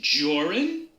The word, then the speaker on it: Joran: out my name is joran that's jor rhymes with orr and run which is what you